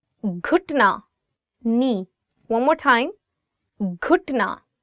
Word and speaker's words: گھٹنا: گھٹنا. So it is gaf and you're adding it with he, and it becomes gh, gh.